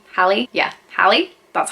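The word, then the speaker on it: Halle: they're all like different but in my opinion Holly Hallie yeah Hallie that's how you say it is an amazing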